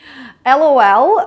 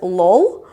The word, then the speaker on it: LOL: LOL, I'm sure you know what it is, but you should not pronounce it as lol, because in English-speaking countries, it has to be pronounced as an acronym, like as an alphabet, LOL.